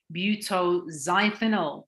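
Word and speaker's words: butoxyethanol: now other common toxins we have butter cytonyl pronounced butyl zythenol it's found in window kitchen and multi-purpose cleaners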